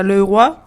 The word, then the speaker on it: Leroy: Ну, на французском это Leroy.